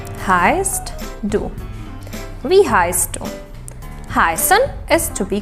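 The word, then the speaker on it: wie heißt: is v heist do we heist heisen is to be called v like an long e and tree heist like s and soda we heist do and the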